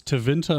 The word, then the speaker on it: Tevinter: So it's Tevinter and Arlathan. Both have the emphasis on the second syllable, I suppose.